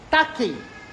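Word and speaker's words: τάχει: Se escreve com o ki grego, que tem a letra X, mas se lê como ki, que é a mesma letra do Christos em grego.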